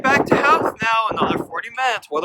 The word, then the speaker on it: Howth: So, the British pronunciation is Howth, but the way they pronounce it here in Ireland is Howth.